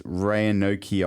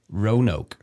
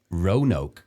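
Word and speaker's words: Roanoke: I think it's Rayanokei Island. I've got the word the pronunciation of that word coming in. Rono. Rono. Wow, that's how Americans would pronounce that word.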